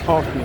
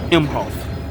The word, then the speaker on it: Emhoff: States uh Douglas mhof I was calling his name Hof me but his name is mhof I was saying it wrong but the more I